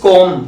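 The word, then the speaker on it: calm: इट इज कॉम, B silent here, कॉम, इसमें बी का sound नहीं होता है।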